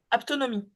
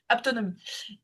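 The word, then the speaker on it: haptonomie: Apto s'écrit comment ? H a p Ah t o n o m i. Aptonomie. Je l'ai. Je l'ai. Aptonomie.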